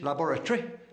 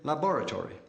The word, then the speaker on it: laboratory: English laboratory, American laboratory.